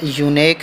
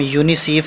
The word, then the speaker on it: UNICEF: अच्छा, ये यूनेक नहीं बल्कि इसको हम यूनिसीफ कर लेते हैं, ठीक है, UNICEF, यूनिसीफ आपने सुनी होगी, ठीक है।